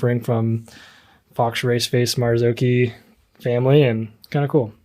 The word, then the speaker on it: Marzocchi: new Fork from marzuki is it marzuki or marzochi I believe it's marzuki marzuki that's what they were calling it it's originally in to probably not pronounced Italians call it yeah Mari yeah so